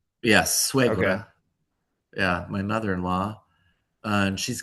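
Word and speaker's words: suegra: And um I'm going to bring his mother back, my swagger, my mother-in-law. Bring her back to Oregon. Is that how you say it in Spanish or? Yes. Swaggra.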